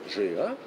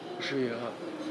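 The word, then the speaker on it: GIA: То есть вот эталонные камни для лаборатории ЖИА, про которую все говорят, ЖИА, извините, я произношу это на французский манер, потому что я учился по-французски, потому что здесь я говорю по-французски.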